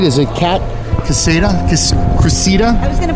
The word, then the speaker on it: Cressida: Cressida, yeah.